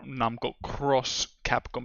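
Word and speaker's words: Namco × Capcom: the intro animation of Namco X Capcom or Namco Cross Capcom because Japanese people usually pronounce the X as cross.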